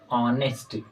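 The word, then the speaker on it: honest: हैं जैसे कि ऑनेस्ट इसका देखिए लिखते तो ऐसे हैं लेकिन इसका साउंड अगर आएगा तो हम ऐसे प्रोनाउंस करेंगे ऑनेस्ट तो इसमें क्या है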